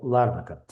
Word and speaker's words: Ларнака: Ну, там я еще не разобрался, куда ставить ударение, но говорят правильно, что Ларнака.